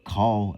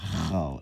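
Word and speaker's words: קל: So it'll be call. All right. Now, for example, when we say call and we think that is cha, it will be written down like this, which is completely incorrect. All right. This is where the confusion is. Because not chal, it's call.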